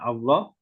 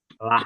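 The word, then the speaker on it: الله: Yang keempat, cara membaca lafaz Allah adalah apabila sebelumnya didahului A atau U, maka dibacanya Allah tebal. Apabila sebelumnya didahului harokat kasroh, maka dibacanya adalah lah. Gitu ya. Tipis.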